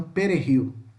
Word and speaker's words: perejil: O J tem som de R, tá? Então, perejil, perejil, tá? Ele puxa pro R, né?